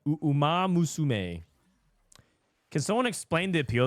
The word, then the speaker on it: Uma Musume: Uma Musume. That's how you pronounce it. Umasume. Uma Musume.